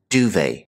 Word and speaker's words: duvet: This is a French term, so we don't pronounce the T here. Duvet.